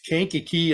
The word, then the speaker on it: Kankakee: show july 17th at the i can't even pronounce the name of the town it's kankakee illinois it's at the kankakee county fairgrounds in